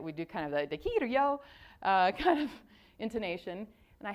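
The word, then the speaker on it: できるよ: And here's how you pronounce it. Dekiru yo.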